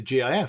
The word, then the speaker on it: GIF: github isn't it so I'd always put it as as gif because it's a gif so with a hard G like it is if